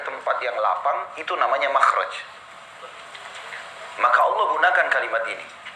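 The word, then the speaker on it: مخرج: Inggris kan exit ya bahasa Arabnya itu mimha rajin bacanya makhraj Kenapa digunakan kalimat itu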